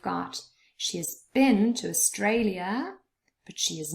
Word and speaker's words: Australia: Australia has 3 syllables, and the middle one is stressed, Australia.